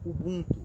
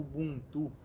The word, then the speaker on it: Ubuntu: existe a prática do Ubuntu, ou Ubuntu, dependendo da forma que pronuncia.